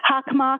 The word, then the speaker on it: Hockomock: Hockomock. Okay, thank you very much for the pronunciation.